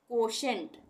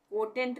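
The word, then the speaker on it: quotient: कोशेंट, कोटेंट नहीं पढ़ेंगे, कोशेंट।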